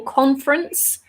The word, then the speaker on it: conference: I think for you, only has 2 syllables. Conference. So the first E is, and the last E as well, we don't really say. So we don't say conference, we say conference.